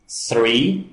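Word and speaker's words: three: Temos que ter muito cuidado com a pronúncia do número 3, 3, porque se nós tirarmos esse H, nós temos tree, que significa árvore.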